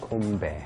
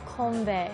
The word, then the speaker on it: 건배: How do you say cheers in Korean? Konbae. Konbae. Yes. Konbae.